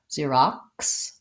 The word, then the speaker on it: Xerox: you're saying Xerox yeah I think we kind of do an ear see rocks so whether this is an ER or just an R remains to be seen we have to glide in between so we have to do the e the our son and then we have to go into the ah ah Xerox and then we have